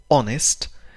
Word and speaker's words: honest: honest لا تنطق be honest، تنطق honest.